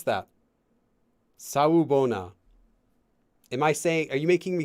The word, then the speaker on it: Sawubona: It's Sawubona. Sawubona. How do you pronounce that? Sawubona.